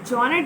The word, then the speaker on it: genre: Genre derived from French, where they call it genre. Okay, sounds so strange. Like, but we speak American English, so we will stop ourselves to genre. R-U-H, genre, genre. Pronounce that right, and we will meet